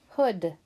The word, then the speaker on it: hood: on our last word hood o o d hood it sounds like oh like in book we're going to circle